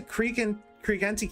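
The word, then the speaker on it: Creante: big elf guy, uh he did pronounce the E at the end. I would have said Creant Castle, but he pronounces the E, so I will too.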